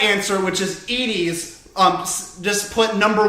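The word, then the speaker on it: Edy's: Do you think that this is pronounced Edie's, like a good person, or Eddie's, like a psychopath?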